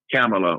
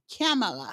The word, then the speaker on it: Kamala: Now, on that political realm, by the way, it's pronounced Kamala, like Pamela without a P. Okay. Kamala.